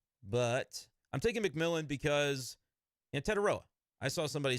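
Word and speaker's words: Tetairoa: Reach a little bit and take Teteroya McMillan.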